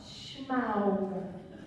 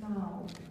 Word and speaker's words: Smaug: It's not Schmaug. It's Smaug.